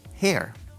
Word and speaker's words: hair: Porque cabello se dice hair. Hair. Y ella se dice her. Pero yo decía, cuando veía la E, yo pronunciaba hair para usar el pronombre personal. Cuando decía eso, estaba diciendo cabello.